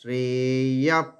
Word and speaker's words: শ্রেয়ঃ: হ্যাঁ, ভাবয়ন্তস শ্রেয়প, শ্রেয়প, শ্রেয়কে দীর্ঘ করার পরে ইয়া, তারপরে বিসর্গটা আবার এখানে ব্র্যাকেটে লিখে রাখুন ফ, অর্ধেক ফ, ফ নয় কিন্তু ফ এর মতো শোনাবে। শ্রেয়ঃ পরমবাপ্স্যথ, পরম বা দীর্ঘ